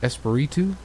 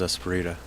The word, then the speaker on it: Espiritu: Mike Espiritu? Thought it was Esperita. Well, there's no A, it's a U.